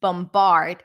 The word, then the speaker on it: bombard: been bombarding the place bombard here we do hear the B but the word bomb